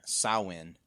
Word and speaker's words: Samhain: I'd say because the standard one is Samhain. So we'll do Samhain then? Yeah, I think Samhain. Okay. Samhain, it seems like the standard Irish pronunciation.